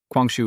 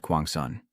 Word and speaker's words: Kwang-shu: Kwang-shu is not Bat Kwang-sun.